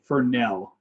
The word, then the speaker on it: Fresnel: didn't hear you yeah it's a fernell although it's spelt weird it's french and then in the on